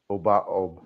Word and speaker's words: Abao: Obaob.